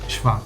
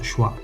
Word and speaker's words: schwa: Se le llama “schwa”, (la pronunciación original es /ʃva/, no /ʃwa/), y básicamente es la vocal que pronunciamos cuando relajamos la boca y emitimos una vocal: /ə/.